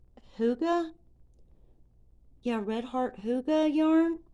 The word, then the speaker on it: Hygge: This is Redheart, I believe it's pronounced Hygge. Yeah, Redheart Hygge yarn. Which to me it looks like it's spelled Higgy, but I'm pretty sure it's called Hygge.